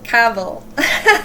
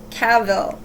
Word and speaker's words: Cavill: No, Cavill. Sorry, I almost said it wrong again. Thank you to the subscriber that told me that I was saying his name wrong. So it's Henry Cavill.